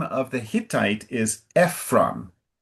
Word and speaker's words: Ephron: So Abraham and then the name of the Hittite is Ephron. Ephron and just for you to know in English the emphasis is all is often sooner in the word.